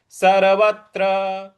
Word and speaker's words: सर्वत्र: सर्वत्र, सर्वत्र यहां जो त्र है उस पर हमको बल लगाना है।